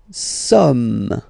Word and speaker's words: sommes: Nous sommes, okay? Nous sommes, okay? So you don't pronounce the final S here, it doesn't exist.